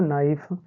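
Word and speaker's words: knife: का मतलब है कि बच्चों ये साइलेंट हो जाएगा जैसे यहां देखिए एन आई एफ ई क्या हो जाएगा बच्चों नाइफ एन ओ डब्लू नो हो गया एन डबल ई नी हो गया यहां पर बच्चों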